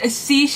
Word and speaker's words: Siege: it as amazing they finally know how to pronounce this it's Siege and storm thank you Amber for letting me